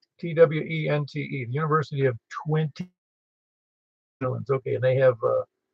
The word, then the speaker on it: Twente: I think if you want to hear it, you can hear an FDR is located at the University of Twenty in the Netherlands.